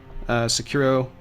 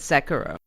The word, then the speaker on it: Sekiro: metaphor so this is from software's new game secure Oh shadows die twice it is not technically air